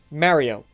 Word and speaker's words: Mario: That's how you say it. I am Italian. I'm Italiano. I'm Italian, so I know how to say Mario properly. Okay? You're nobody else. You're all saying it wrong. Mario.